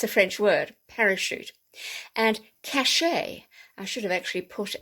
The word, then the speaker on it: cachet: the parachute that's a french word parachute and cachet i should have actually put an acute over